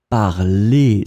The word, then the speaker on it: parlez: And then you pronounce it parler. So phonetically, it is exactly the same form as the infinitive, but you need to write it like that.